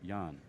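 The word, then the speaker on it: Jaan: okay or down Portuguese okay here we go Yan all right so here we go that's not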